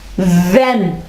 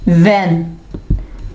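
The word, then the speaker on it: when: अगर S silent हो तो इसकी मिसालें कौन सी हैं? व्हेन, व्हेन, वेयर।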